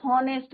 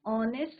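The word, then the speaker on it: honest: कई बच्चों को मैंने देखा है कि वो क्या कहते हैं, हॉनेस्ट बोलते हैं, हावर बोलते हैं, बट यहाँ पे हॉनेस्ट नहीं होता है बच्चों, ऑनेस्ट होता है। एच इज योर साइलेंट, तो हम क्या बोलेंगे,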